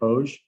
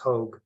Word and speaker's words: Hogue: Is it Hoge? Yeah, it's pronounced Hogue.